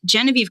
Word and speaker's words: Genevieve: So that is why all of my professional stuff says Genevieve, because people will pronounce Genevieve correctly because they take one extra second to look at how it's spelled.